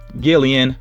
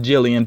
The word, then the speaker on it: Jillian: And you see here that our winner of course, is Gillian Matthews, or Jillian Matthews, excuse me there. I believe it's pronounced Jillian, but yeah, Jillian Matthews.